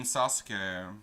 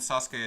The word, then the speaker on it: Sasuke: Apparently, you're supposed to pronounce the oo in Sasuke, but nobody does. Nobody in the English fandoms does.